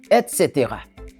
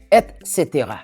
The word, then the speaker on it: et cetera: Ça se prononce et cetera et cetera.